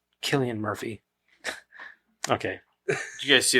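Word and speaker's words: Cillian Murphy: the best thing about the second one is selan Murphy I love that dude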